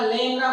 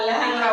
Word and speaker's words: লেংরা: আমরা নেংটা বলি না, ন্যাংটা বলি, আমরা টেংরা বলি না, ট্যাংরা বলি, আমরা লেংরা বলি না, ল্যাংরা বলি।